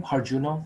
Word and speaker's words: Harjuno: My last name, Harjuno, is pronounced very, very close to this sentence, this question. How'd you know?